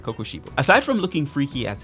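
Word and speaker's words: Kokushibo: trouble pronouncing his name I think I called him uh kishobu or something along that lines which sounds pretty good but I missed out the first KO so it's should be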